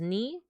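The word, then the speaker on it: 二: are they isid this two is always right as ni uh three is always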